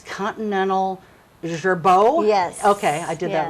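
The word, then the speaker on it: Continental Girbau: You know, one thing, I know there was a company in town here, and I can't pronounce their name. It's Continental Gerbeau?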